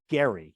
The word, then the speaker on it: Gerry: gerrymandering as a footnote his name was actually elridge Gary it was a hard G but for the purposes of gerrymandering we've turned it into a soft G so this guy probably